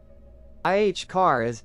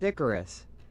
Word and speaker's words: Icarus: IH car is Doug. It's pronounced Icarus.